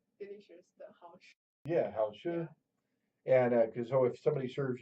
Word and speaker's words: 好吃: Yeah, Hao Tzu.